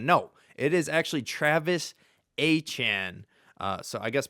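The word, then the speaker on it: Etienne: My whole life I thought it was Travis ETN. No, it is actually Travis Achan. Uh, so I guess pronounced the same way as Devon Achan.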